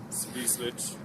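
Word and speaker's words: Свислочь: So, we're in the center of Minsk, and this is the river Svyslich.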